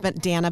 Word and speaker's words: Dana: My name is pronounced Dana Banana. It's the only way to say it together so that everybody gets it because it's spelled just the same as Dana.